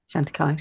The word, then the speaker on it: Chantecaille: Chantecaille. Pardon? Is it Chantecaille? Is that how you pronounce it? Chantecaille.